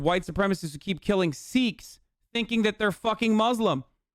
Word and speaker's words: Sikh: why were the Sikh communities the ones that got fucking harmed the most in certain circumstances? They're not Muslim. Pronounced it like sick, bro.